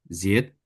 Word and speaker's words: seit: Spielt jetzt Saxophon seit, S- seit vier Ah, ah, ah. Wochen. No, I bacanya. Ini kan ada tulisannya Said ya, tapi bacanya jadi I.